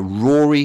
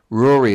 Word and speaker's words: Ruari: Yeah, Rory Fairbairns. Rory is spelt Ruari, Fairbairns.